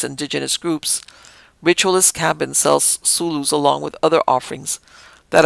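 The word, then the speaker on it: sullu: And again, I'm pronouncing S-U-L-L-U as Sulu, but it might be Suyu, but we do in the Spanish pronunciation.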